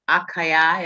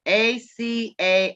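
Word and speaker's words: açaí: It's a refresher, and it's called Strawberry Refresher ACAI. acai, I think Oh, that's how that's pronounced.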